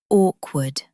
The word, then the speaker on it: awkward: Pronunciation tip, both W sounds are pronounced, awkward.